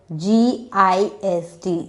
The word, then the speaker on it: gist: What is the sound you are hearing from the letter G? You are hearing a J sound.